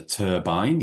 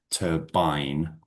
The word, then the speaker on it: turbine: It's a turbine, yep. And just a word on pronunciation, it's a hard I there, turbine rather than turbine.